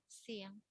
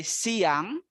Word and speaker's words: siang: And then Siang. afternoon, we say siang. Only 2 syllable as well, siang.